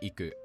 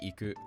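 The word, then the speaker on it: 行く: Saying something like Tokyo ni iku is wrong. The correct way to say this would be Tokyo ni iku.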